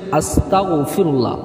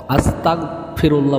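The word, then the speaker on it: أستغفر الله: আস্তাগফিরুল্লাহ সঠিকভাবে উচ্চারণ করতে হবে। কারণ অনেক মুসলমান ভাই বোনেরা আছে তারা ভুল উচ্চারণ করে।যে আসতা এখানে অনেকে তা জবর না বলে আসতা বলে আসতাফিরুল্লাহ বললে এটা ভুল মানে হয়ে যাবে এটা বলবেন না কেউ পড়তে হবে আসতাফুল্লাহ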